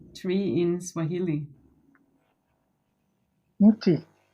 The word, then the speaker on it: mti: Mti. Muchi? Mti is the singular. The plural is miti.